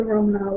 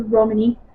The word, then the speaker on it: Romani: You know, and they were talking about how the Romanov were treated, or the Romani, depending on your choice of pronunciation. Both are right, Romanov and Romani.